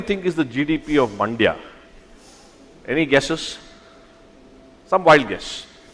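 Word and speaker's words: Mandya: use this example because it rhymes with India but it's also close to Bangalore there's a district in in in Karnataka called mandia I'm sure all of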